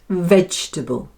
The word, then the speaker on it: vegetable: There are 3 syllables and the first one, veg, is stressed. Vegxtable. Vegxtable. And the second and third syllables are combined, and instead of saying table, we say table, because the vowel is unstressed and so takes on the sound which is that common little schwa sound.